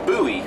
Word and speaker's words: Bowie: e like David Bowie for example but it's pronounced buoy like b o u y like in a